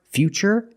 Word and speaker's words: future: words what's the pronunciation what's the pronunciation of T that's right it's ch because we see t e we pronounce the T as CH and we see t r i in futuristic again the t is pronounced with the CH sound so the first word future and the second word is futuristic future is a noun